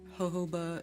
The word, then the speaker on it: jojoba: Jojoba is pronounced jojoba, yeah.